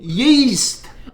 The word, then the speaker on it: yeast: child oh that yes so say yeast yeast dough yeast yes that's how you say it yeast if I say